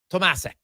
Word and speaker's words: Tomasic: How do you say your name properly? So if we we're big believers, hey, you're going to say someone's name, want to say their name correctly. So it's uh Tomasic.